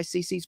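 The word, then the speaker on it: Cici's: It's spelled C-I-C-I, Cece's Pizza.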